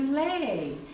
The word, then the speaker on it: Louie: know any Louise and I didn't know at that time that that's not the way you pronounce the name and so finally I I show showed my guide this which my father wrote my name on and and they said Oh Leigh you're Leigh and I thought oh